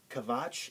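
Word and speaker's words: Quatsch: This word, quiz, it's pronounced kvitz or kviz because they take this word from us. Kvatsch is a kind of a slang-like terms, which means like kind of like bullshit or baloney.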